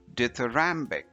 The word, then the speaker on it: dithyrambic: don't let it intimidate you this word is pronounced as ditherambic death rambek deuteramic is actually just a fancy